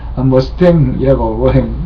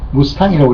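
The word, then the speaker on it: Mustang: 머스탱이라고 미국 원어 발음인데 무스탕이라고 우리가 흔히 알고 있죠. 예, 무스탕이라고 그냥 하겠습니다. F-51은 제2차 세계대전 말여 유럽과 태평양에서 벌어졌던 전쟁에서 연합군을 승리로 이끈 유명한 전투기였다.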